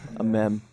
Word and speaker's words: amiibo: was until I was a much older man a a me that's how you pronounce it right aame yes a Mimi Mimi